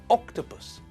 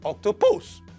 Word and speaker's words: octopus: which tells us that the stress in the word is on the first syllable it's pronounced octopus not October's and not octopus now when we look